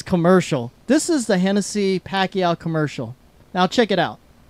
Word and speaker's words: Pacquiao: Sam says it Pacquiao Pacquiao Pacquiao Pacquiao it's Pacquiao he's the Pac-Man but he is the Pac-Man that's for all the Americans Pac-Man and if you're Filipino it's Pacquiao well speaking of of